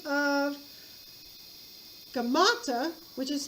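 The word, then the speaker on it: Gaumata: a lookalike of smyrnasis by the name of gamata which is spelled g-a-u-m-a-t-a-g-a-u-m-a-t-a gamata actually takes the throne pretending to be smurdus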